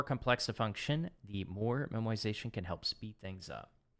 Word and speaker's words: memoization: It's pronounced memoization, not memorization.